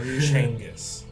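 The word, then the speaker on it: Chengus: nail a little bit your name is spelled c h e n g u s yeswe or really yeah c h e n I thought it was like spelled exactly like gangus but changus like g h i oh is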